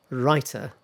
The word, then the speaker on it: writer: Because what happens is that T in writer is voiced, sort of like voiced. Um it sounds a bit like rider. Okay, so the first one, writer.